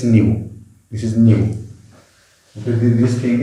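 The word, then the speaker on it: ν: proton energy of each photon is hd it's new this is new this thing is how we pronounce it again this is how we pronounce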